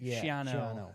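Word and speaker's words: Schiano: the one I've always been saying Greg Shani shano how do you say it shano shano I I've always been worried about them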